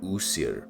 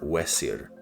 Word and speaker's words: Osiris: Um, but it could have been uh a different name like user or Wier rather than like the longer name that we use. Uh, once again, it's kind of difficult because a lot of his name is made up of vowels plus the suffix is or us that the Greeks like to add. And uh the vowels are basically just a best guess game because they they never wrote down their their vows.